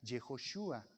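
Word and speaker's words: יהושע: a maría jesús que se pronuncia en el hebreo fonético para nosotros sería yehoshúa jehová ese hijo va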